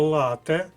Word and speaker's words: лате: склад наголошений у слові перше слово лате то різновид кави в кавовій термінології то є коктейль який складається з декількох прошарків Еспрессо молоко і молочна піна тут наголос на першому складі подруга наголос на першому